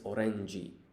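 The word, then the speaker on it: オレンジ: And if we read this, it's oranji. Now that sounds just like orange, and that's because it is a loan word.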